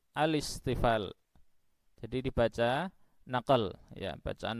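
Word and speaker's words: الاستفال: Mohon dicamkan benar cara membacanya, bukan al-isti'la tetapi al-isti'la. Bukan al-istifal tetapi al-istifal.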